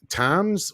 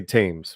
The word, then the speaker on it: Thames: But no, to continue, he says, it's like how I argue, when Americans say Toms, how do you say that? Temis? The thumbs. We would say the Americans would say Thames, River Thames.